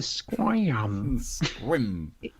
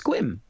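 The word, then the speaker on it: Sequim: that is good shirt have you been to squams it's squim Joey in the chat he's from Washington State he can back us up lots of Elkins swim and that's how it's pronounced isn't it if he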